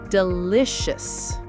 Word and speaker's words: delicious: Now, some three-cllable words have stress on the second syllable, the middle one.